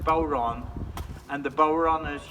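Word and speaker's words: bodhrán: b o d h r a n but pronounced Boron and the boron run is usually made from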